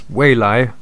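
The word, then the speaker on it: 蔚来: Now, the Chinese name of NIO is pronounced as Weilai, which is an intended pun that stands for, first of all, blue sky coming, as well as future.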